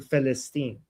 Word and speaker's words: Palestine: And that's why they have to change Palestine to Philistine, because they don't have the pe sound.